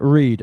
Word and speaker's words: read: This is the past participle pronounced uh sorry written the same way as the infinitive but pronounced read.